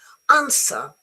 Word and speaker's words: answer: Answer, the W is not there.